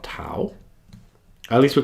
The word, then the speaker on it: tau: say it, I think they pronounce it taf in Greek, but I'm going to call it tau.